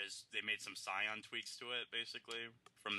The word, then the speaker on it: Scion: pretty much that's an expensive Scion know is that how you say it I thought it was skion SK I'm familiar with